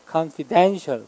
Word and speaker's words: confidential: 얘는 강세 이름절 confident. 얘는 뒤에 than의 강세 있어요. confidential.